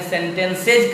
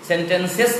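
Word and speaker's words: sentences: इसलिए बार बार जब मैं बोल रहा था परसों भी, कल भी, कि मैंने सेंटेंसेज कहा, सेंटेंसेस नहीं कहा मैंने, सेंटेंसेज क्यों कहा?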